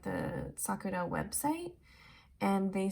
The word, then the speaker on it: Sakura: that i'm super offended or anything but it's pronounced sakura um i see a lot of japanese brands being mispronounced on the internet um and i don't expect everyone to know japanese but it's sakura um i also hear a lot of people